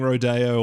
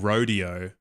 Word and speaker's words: Rodeo: He's doing the emphasis on the wrong syllable. Like I know he's like saying the change between the two, but he's not saying rodeo. He's saying rodeo, not rodeo.